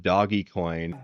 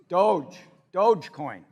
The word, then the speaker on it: Dogecoin: When he came out with Doggy Coin, Dogecoin, or I don't even know how you say it. But I have 10 Dogecoin, which a year ago, is it Dogecoin or Dogecoin? Dogecoin.